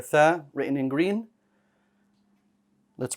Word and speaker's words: ث: and we cannot have that. So remember that tha is not the same as the sin. Don't say sa, tha.